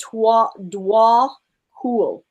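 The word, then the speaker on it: Djwhal Khul: Okay, so this other one right here says, oh, I guess it's pronounced Dwa Hul.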